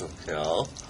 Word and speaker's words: Soquel: Correctly pronounced Soquel.